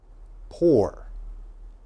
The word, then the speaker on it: poor: All right, this word, poor has different pronunciations in different places in the world. Okay, so the British pronunciation and the American pronunciation, very different. I'm going to teach you the American pronunciation. So in the American pronunciation, this is poor.